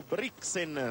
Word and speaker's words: Brixen: porterà il gruppo verso bressanone o brixen se lo vogliamo pronunciare in tedesco quindi a chiusa ponte